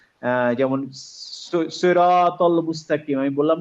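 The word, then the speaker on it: صراط: আসলে এই সা কিন্তু সিন না, ওখানে আছে হচ্ছে সদ। হ্যাঁ, তো সদে যখন আপনার সি হবে তখন নর্মাল সিনের সি এর মতো সি বললে হবে না, তখন একটু উচ্চারণটা গোল করে সই, সৈরাত সৈরাত এরকম হবে উচ্চারণ।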